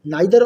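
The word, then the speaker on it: neither: तो देखिए, rule number 1 क्या कहता है कि when each, आइदर एंड नाइदर, नाइदर और इसे नीदर भी प्रोनाउंस करते हैं, are used before singular noun, then these are known as distributive adjective.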